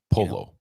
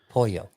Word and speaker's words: pollo: Polo. No, well, no L's, but yeah, they're silent. Pollo.